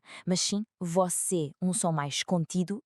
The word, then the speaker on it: você: E segunda, o som deste é fechado, por isso não se diz você com a boca aberta, mas sim você, um som mais contido e preciso.